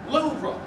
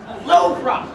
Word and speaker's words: Louvre: It's pronounced Louvre. Louvre.